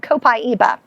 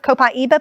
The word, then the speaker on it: copaiba: So this is an oil called copaiba. Copaiba, this is of course... Copaiba. Copaiba. How do you spell that?